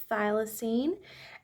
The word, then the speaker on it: thylacine: had to quickly look this up so it's pronounced thylacine and this they're an ex extinct um marsupial